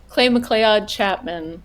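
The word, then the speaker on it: Clay McLeod Chapman: Clay Mccclelay Chapman. Clay Mccclelay Chapman. Who would have guessed how you that's how you pronounce it?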